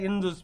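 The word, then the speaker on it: Indus: সভ্যতা ভারতবর্ষে চলে আসলাম এই যে সিন্ধু বানান দেখো ভালো করে দেখবা আইএন ডি ইউএস ইন্ডুস লেখা নাই ইংলিশে লেখা ইন্দুস বাংলায় উচ্চারণ করা হয় সিন্ধু এই সিন্ধু নদী আছে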